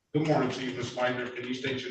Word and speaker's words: Leitner: I get the pronunciation correct, Ms. Leitner?